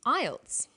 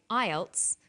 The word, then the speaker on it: IELTS: acronym with an acronym we don't pronounce the individual letters we pronounce it as a word so we say ielts not i e l